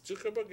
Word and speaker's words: Zuckerberg: Is Zuckerberg?